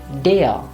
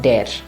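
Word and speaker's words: der: sail or in the article it will be dear and not there it's there or in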